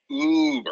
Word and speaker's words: Uber: And it's pronounced Uber. Stop making that sound.